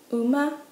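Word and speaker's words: うま: Horse is uma, uma, uma. I like to think of this as oh, ma'am.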